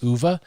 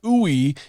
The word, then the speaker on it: Uva: His real name's Uva, but nobody can like pronounce it. They go like ooey when they see his name because they don't know how to pronounce it, Uva.